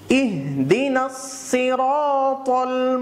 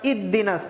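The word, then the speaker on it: اهدنا الصراط: জবর র, ইহদিনাস, আবার ইদ্দিনাস না, অনেকে হার উচ্চারণ করেন না, এখানে একটা হা রয়েছে, ইহ, এই হাটা হলো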